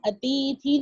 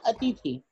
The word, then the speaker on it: अतिथि: ऐसे बोलते क्या है, अतिथि। हम अतिथि नहीं बोलते हैं, हम बोलते हैं अतिथि।